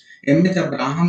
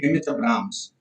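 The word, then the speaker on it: M. H. Abrams: एम एच अब्राहम नहीं, एम एच अब्राम्स, ठीक है, एम एच अब्राम्स होता है, आप लोग स्पेलिंग हमेशा मिस्टेक करते हैं, आप बुक में देखना अब्राम्स लिखा रहता है, ठीक है, अब्राम्स।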